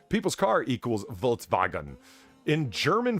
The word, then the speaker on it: Volkswagen: In German 5 is I'm assuming that's in German V is pronounced like an F. Not that I take pride in my German car or anything. It wouldn't be Reich. Stop it. Also, the W's are pronounced like V's.